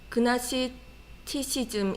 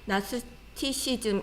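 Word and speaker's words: Gnosticism: 자, 제가 다시 보면 맨 마지막에 영지주의 이것이 이제 그나시티시즘 이렇게 읽기도 하고, G를 발음 안 하고 나스티시즘 이렇게 발음합니다.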